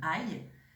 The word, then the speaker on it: aille: Donc, c'est le fameux aïe, A-I, 2 L-E, mais le E est muet.